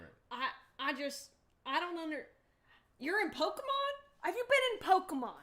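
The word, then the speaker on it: Pokémon: What she would say to annoy me would be Pokemans. Oh, yeah. And she'd add a Z at the end.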